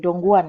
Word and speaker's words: Dongguan: Perjalanan bisnis di Guangzhou dan, eh, bagaimana kalian membacanya? Dongguan, ya.